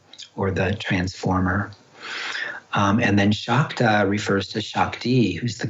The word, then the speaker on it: Shakta: So when the S has a little accent over it in Sanskrit, it's pronounced as an SH. So it's actually Nandu Shaiva Shakta Tantra.